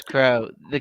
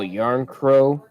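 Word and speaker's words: Järnkrok: young yep kelly young it's crow crooks k is silent or the second k is silent kelly john crow oh yarn crow former red winger kelly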